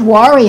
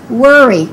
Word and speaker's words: worry: Don't say don't worry about it. Say don't worry.